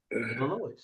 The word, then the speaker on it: Illinois: I think the S is silent.